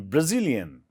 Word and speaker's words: Brazilian: So we stress on the G, okay? Second syllable. I'm Brazilian.